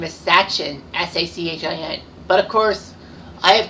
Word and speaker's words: Sachin: And, you know, his first name is Sachin, S-A-C-H-I-N. But, of course, I have terrible pronunciation skills, so I'm going to let Wikipedia tell you his name.